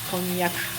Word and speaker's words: konnyaku: Pronunciation in Japanese is konyak.